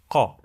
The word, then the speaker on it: ق: If I substitute the K with our letter, it will be even stronger. It will be kite, kite. Let's see. It is kite, kite. Let me introduce our letter to you. It is this beautiful one. The sound of this letter is qa, qa, qa, qa, qa, qa. Kite, kite.